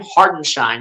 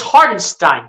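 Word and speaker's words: Hartenstein: Isaiah hardenstein Kate Scott I think I just heard Kate Scott pronounce Zara Einstein's name heart and shine like what is that it's hardinstein Kate Scott what do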